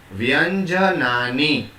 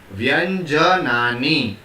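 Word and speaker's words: व्यञ्जनानि: I'll speak and you please try to pronounce as I am speaking. Vyanjanani. I repeat, Vyanjanani. Right. Let me tell you something about this word. Vyanjanani.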